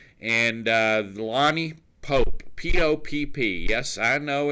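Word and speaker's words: Lani Popp: Lots of P's, but yet it is pronounced Pope.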